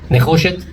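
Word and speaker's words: נחושת: Nechoshet is how you say copper in Hebrew.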